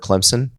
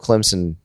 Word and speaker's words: Clemson: he pronounces the word Clemson. What is he? Does he not do the full P? There is no P. You get in big trouble if you do a P.